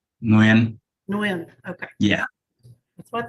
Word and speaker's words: Nguyen: last one's pronounced Nguyen.